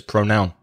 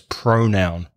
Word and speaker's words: pronoun: second syllable he says pronoun remember it's the first syllable so it's pronoun thy is a pronoun